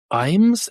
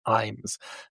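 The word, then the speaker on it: Ijames: winning play by James Imes, it's pronounced. I was like, I looked it up. It's James. It looks like James L. James or James I. James, but it's just pronounced Imes, which is really confusing.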